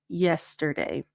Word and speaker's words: yesterday: And here, if you're saying yesterday, soften it up, open up your teeth a little bit. So it's not je, but yeah, yesterday.